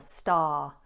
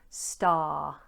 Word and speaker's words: star: Now you may have noticed the letter R is ignored in this particular word. We just do a long R vowel, star, star.